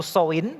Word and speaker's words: Samhain: Di mana mereka memiliki sebuah festival disebutnya pronounce-nya itu Samhain, begitu ya, festival Samhain, di mana mereka percaya